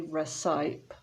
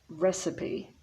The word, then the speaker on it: recipe: the p receipt recipe so we don't say recipe but recipe so the woman is reading